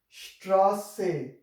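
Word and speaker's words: Straße: So it will produce a sound like s, Strasse.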